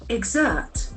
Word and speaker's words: exert: Exert. You use something such as authority. Exert. We can see that the letter X doesn't have any sound. That G exert. Exert. The accent falls the second syllable.